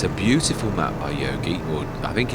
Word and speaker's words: Jogi: It's a beautiful map by Yogi or I think it's I think it is Yogi. I think that's how in Britain we would pronounce the name. It' be a silent J, I would say.